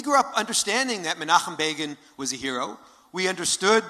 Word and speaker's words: Begin: So in 1977, when Time magazine was saying Begin rhymes with Fagin, when the American Jewish community, the New York Jewish community, was in depression, we were elated.